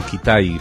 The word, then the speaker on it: Kitaj: Sí, hicimos referencia a un artista y a Ronald Brooks Kitaj o Kitai, mejor pronunciado, porque él era estadounidense, pero de origen húngaro y utilizaba el apellido,